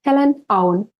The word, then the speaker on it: Helen Aun: n a u n Helen on so we just in Estonia we just pronounce it as we write it all the letters I have a lot